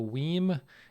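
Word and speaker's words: WiiM: He's referencing the story that we talked about last episode about the Weem amp. I'm still going with Weem as the pronunciation of W-I-I-M, capital M for some reason.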